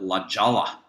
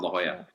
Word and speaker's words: La Jolla: been to southern california call it la jala because it's spelled l-a-k-o-l-l-a but it's called la jolla um thank you so